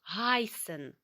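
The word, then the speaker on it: heißen: які не є схожими маємо дієслово Гайсин зватися називатися е і дифтонг пригадуємо ми читаємо як ай і маємо шарфи з S або Естет який читається як с Гайсин бігайзду Як тебе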